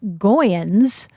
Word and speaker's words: Goens: him did you know his original name was goans like rhymes with groin kind of feeling or coin and his brother played